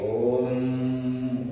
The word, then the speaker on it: ओम: সেই জন্য জানতে হবে ये ओंकार, ओंकार ओंकार शब्द बनता है अ उ म, ये तीन अक्षर और उसके साथ अनुनासिक शब्द बिंदी लगता है। तो इसलिए ओम ओम इसका उच्चारण ऐसे होता है।